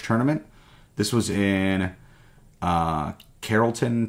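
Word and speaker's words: Carrollton: this was in uh Carolton Texas or Carlton however you want to pronounce that I'm pretty sure it's Carolton though and our placing are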